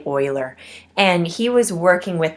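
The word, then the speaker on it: Euler: gentleman named Oiler uh a lot of people say his name to be uler in our part of the country but it's actually Oiler and he was working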